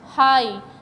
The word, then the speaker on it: high: Long vowel का वो rule क्या है बेटा, कि जहाँ पर भी आपके वर्ड में G और H साइलेंट आएंगे, साइलेंट G और H आ रहे होंगे, वहाँ पर G और H से पहले जो आपका लेटर आ रहा है, आई यहाँ पर आ रहा है, उसको हम लॉन्ग वावल में पढ़ेंगे, ठीक है। जैसे HIGH, हाई, यहाँ पर भी आई